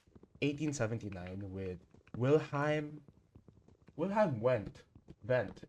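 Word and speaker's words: Wundt: It first started with 1879 with Wilheim Wilhham went vent. It's pronounced with a V.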